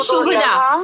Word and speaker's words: शुभदा: कलेश अग्नि सुविधा और मोक्ष शुभिदा नहीं, शुभदा, शुभदा, शुभी नहीं, हाँ, शुभदा।